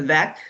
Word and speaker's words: VEC: vaccine equity coordinating committee the vac i know it rhymes with the heck and the goal of